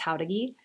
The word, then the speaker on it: Jauregui: My last name is Jauregui and it's pronounced Howdagi.